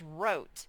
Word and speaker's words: wrote: pencil or a marker the word says wrote and you have to remember that w's silent it's as if it's not even there wrote okay don't get tricked by that one wrote this word says books